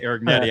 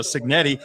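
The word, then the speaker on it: Cignetti: I want to say Arignetti. I got to say it right now, Signetti.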